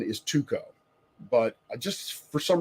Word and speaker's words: Tycho: International folks I've been told that the proper pronunciation is tuko but I just for some reason I want to default back to Taiko anyway I'm gonna call him Tycho until I